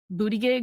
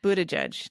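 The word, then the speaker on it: Buttigieg: some people say Pete Pete booty gig might join ah Buddha judge don't that's racist to mispronounce his name I think it's homophobic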